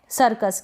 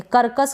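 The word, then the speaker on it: circus: यहाँ पर भी सी के बाद में आई आ रहा है, तो आपको कोई डिफिकल्टी नहीं होगी, सी को हम स पढ़ देंगे, करकस करके नहीं पढ़ देंगे, सर्कस।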